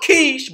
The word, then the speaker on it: Kush: capital of summer was kush now it's pronounced quiche but we understand that's kush you understand what i'm saying is quiche is kush so the first capital